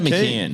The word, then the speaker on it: McCown: Or someone else helped me pronounce Emma McCown's last name. I'd say McCann.